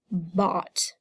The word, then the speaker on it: bought: had talked and then with the oh you and a silent GH we had the word bought all right now I